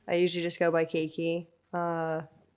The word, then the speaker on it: Keiki: usually just go by keiki uh people tend to think that it's kiki and it's not it's katie like cake and it's spelled k-e-i-k-i